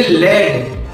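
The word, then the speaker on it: lead: लेकिन जब हम बोलेंगे एल ए डी बोलेंगे लेड क्या बोलेंगे लेड तो लेड का मतलब क्या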